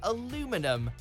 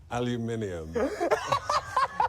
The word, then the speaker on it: aluminium: prefer the other version today both are recognized as acceptable do you agree with